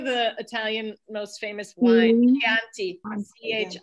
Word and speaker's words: Chianti: italian most famous wine chianti chip right so now pronounce this one so so the chi if it's chianti if it's it's key in chianti it's going to be key every time so that's the beauty